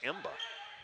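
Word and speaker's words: Mbah: from this area but m-b-a-h is his name is emba and that is according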